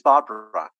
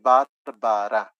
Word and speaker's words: Barbara: had, her name is Barbara. Yeah, and you're going to say, "Oh, that's different." Yeah, because in Spanish we say Barbara, but in English you say Barbara. So it's only two syllables.